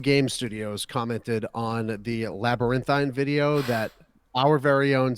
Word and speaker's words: Labyrinthine: game studies studios go check out uh labyrinthine labyrinthine that's how you pronounce it um and shout out to stephen